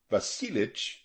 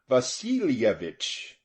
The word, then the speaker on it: Vasilyevich: is vasilyevich reminded him pronouncing it not basilic but fully vasilievich and this pronunciation was